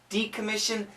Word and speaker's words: decommission: Decommission. Decommission, yes. We have to say decommission. The accent goes here. Decommission.